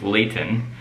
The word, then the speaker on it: Leighton: It's Layton. Layton is how like, you would say it. Like the Lay's potato chips.